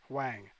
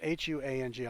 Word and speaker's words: Huang: Commerce Department staffer worked closely with Ron Brown and John Wang. Sorry, I mispronounced that. John Wang. Well, it's Huang.